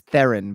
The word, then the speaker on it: Theron: then she'll slap me and be like it's theron by the way and then just leave it's